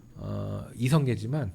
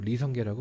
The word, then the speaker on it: 이성계: 우리는 고려의 설립자가 조선의 설립자가 이성계지만 북한은 리성계라고 발음을 하죠.